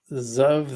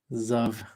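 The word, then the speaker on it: xGov: And gov.alg says, Zov, the G is silent. Thanks, Xavier. Zov.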